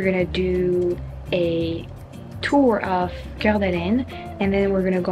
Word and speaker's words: Coeur d'Alene: I'm in Coeur d'Alene. This is how you pronounce it.